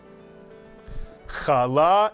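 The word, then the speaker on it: challah: the letter how will you pronounce this two- syllable Hebrew word kala is correct and what is Kal it's the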